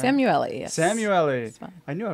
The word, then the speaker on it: Samueli: Did I pronounce that right? Samueli, yes.